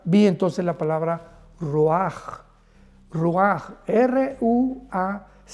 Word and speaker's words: ruach: Y es importante porque la palabra viento es la palabra ruach, R-U-A-C-H, la CH en hebreo se pronuncia como una J, ruach, que significa espíritus.